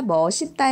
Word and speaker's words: 맛있다: 맛없다 이렇게 발음이 되는데 다만 다만 맛잇다 머시따 의 경우에는 맛잇다 멋이 따로 도 발음할 수 있다 라고 되어 있어 많이 쓰기 때문에 그렇습니다 4 그래서 현실 발음 에서는 맛잇다 머시따 도 발음이 되기 때문에 예외적으로 인정을 하고 있는 거죠 어맛 있다 아 맛잇다